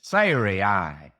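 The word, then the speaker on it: Sarai: her name sah and I have actually been pronouncing it incorrectly all through here and I'm not about to change it it's sir ey would be the correct pronunciation before Siri well if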